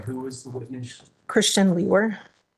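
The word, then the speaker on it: Liewr: name is Christian and my last name is spelled l i e w r and it's pronounced leer and where are you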